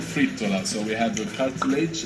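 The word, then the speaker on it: frittola: Fritola? Fritola? Fritola. I don't know what that is. Actually, it's pronounced fritola.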